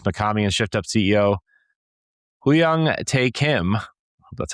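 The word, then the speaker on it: Hyung-tae Kim: Both Mikami and Shift Up CEO Huyang Tae Kim, that's how you say it, emphasized a shared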